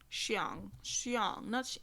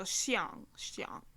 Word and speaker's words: Xiang: Xiang, not Ang, Ong. So Xiang.